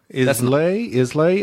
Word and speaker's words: Islay: Islay? Isla? It's Isla. Isla? It's not Islay. That's how it's spelled, but it's pronounced something different.